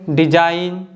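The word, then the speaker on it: design: Paradigm में देखिए जो लेटर ए है ना यह ऑलमोस्ट साइलेंट है और जी भी साइलेंट है। नेक्स्ट वन है डिजाइन, साइन और नेट।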